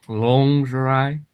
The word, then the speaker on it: lingerie: It's pronounced lingerie.